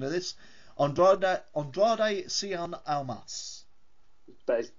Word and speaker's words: Andrade Cien Almas: and I'm going to completely cock up the pronunciation of this, Andrade Cien Almas.